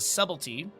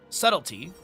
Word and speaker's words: subtlety: You do also have Valier going into the subtlety subtlety. You don't pronounce the B but it's I English is a dumb language.